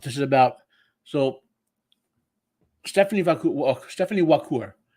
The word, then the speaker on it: Vaquer: So Stepanie Vaquer. It starts how you would say liqueur, but with a W if you wanted how to pronounce it.